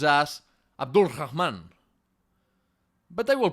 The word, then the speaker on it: Abd al-Rahman: Quick note here, his name is pronounced as Abdul Rahman, but I will pronounce it in the Spanish way, Abderrahman.